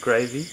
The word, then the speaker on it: Gravy: Would you like to tell us how you got your name, Gravy? It rhymes with Davy, and I've had it since I was about 16, I think, so I've had it for 15, 16 years now.